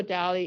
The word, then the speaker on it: DALL-E: DALLE 2, like DALL-E, like the artist, but now it's made by a machine. It's using like Wall-E, right? like Wall-E, yeah. Like Wall-E, but with a D.